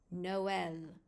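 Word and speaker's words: Noël: The trama indicates that you must pronounce the two vowels separately in the word. An example, Noel.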